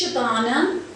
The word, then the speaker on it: Shabana: It's Shabana, rhymes with banana.